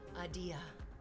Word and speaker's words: Adia: Adia. Like the word idea, but with like a long drawn out first syllable.